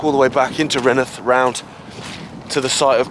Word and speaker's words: Rainworth: I often am but at least I'm saying renth not you know mispronouncing it okay it's an